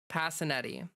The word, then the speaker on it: Passinetti: Just just to be clear, it's Passinetti, and that's not an official Italian pronunciation, but that's how my family pronounces it. Probably because it's like an Americanized, you know, pronunciation of of an Italian name.